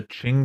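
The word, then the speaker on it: Qing: case it is okay it's a Ching Dynasty but spelled with the q q i n g Qin dynasty the Ching Dynasty do you think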